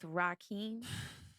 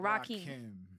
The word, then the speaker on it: Rakim: The collab with Rakim. Yeah. Is that how you say his name? Rakim or Rockheem?